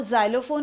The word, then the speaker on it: xylophone: Now, xylophone is not a good example because you will say, I am not getting the sound.